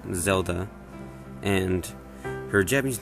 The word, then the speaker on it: Zelda: any harder either her english name is definitely pronounced zelda and her japanese name shown here is zeruda